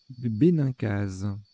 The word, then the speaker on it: bénincase: Comment ça se prononce? Bénincase.